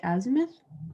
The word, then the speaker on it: azimuth: The altitude and the, I'm going to pronounce this wrong, the azimuth.